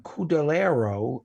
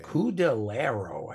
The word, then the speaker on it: Cudillero: is from Cudillero, Spain. Oh, okay. Cudillero. I think I'm Cudillero. Cudillero. I think I'm pronouncing it correctly.